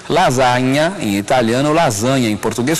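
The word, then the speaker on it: lasagna: s e com GN lasanha é assim que se fala em italiano o GN em italiano corresponde ao NH em português lasanha em italiano lasanha em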